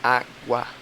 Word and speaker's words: água: A gente fala água. O U é bem baixinho, água. E o A gente fala mais alto. Então, é como se o tom crescesse.